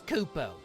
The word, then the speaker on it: Koopo: The name's Koopo. Rhymes with oo slow.